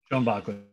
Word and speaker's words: Schoenbaechler: So here, so Schoenbaechler, or do I pronounce it correctly? Schoenbaechler.